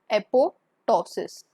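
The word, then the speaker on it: apoptosis: वन is necrosis, another is एपोटोसिस. इसकी मैंने spelling गलत नहीं लिखी है एपोटोसिस की, ये स्पेलिंग यही होती है. इसमें सेकंड वाला जो पी है ये वाला साइलेंट होता है, पर इसको आप एपोप्टोसिस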